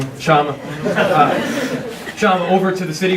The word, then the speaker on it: Kshama: Also, I am absolutely honored to welcome Council Member Sawant over to, I'm sorry, did I pronounce that wrong? Kshama.